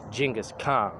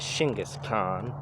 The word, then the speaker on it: Genghis Khan: Rank number one, Genghis Khan. Here in America we say Genghis Khan, but in Mongolia it's actually pronounced and said Shingis Khan.